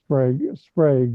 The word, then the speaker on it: Sprague: I can't imagine that Sprague de Camp is it Sprague or Sprague? Sprague is the way he always pronounced it.